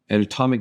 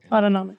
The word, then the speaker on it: autonomic: system fight an uh uh anatomic nervous I'm saying it wrong autonomic autonomic nervous system is which